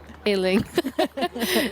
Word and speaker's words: Illing: Like obviously, is it Illing or Eling? How do you say it? Correct me. Illing. It's quite simple.